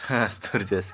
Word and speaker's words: Sturges: Nah, biasanya yang sering digunakan untuk menentukan banyak kelas ini adalah aturan ini ya, bacanya apa? Starch ya. Sturges.